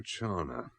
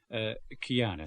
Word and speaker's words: Chiana: Rosario Chana. Chiana, sir. CH is spelled here. H hardens the C in Italian.